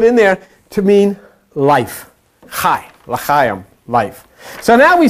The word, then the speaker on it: chai: And you put them together, 18 equals C-H-A-I, pronounced chai, which is life.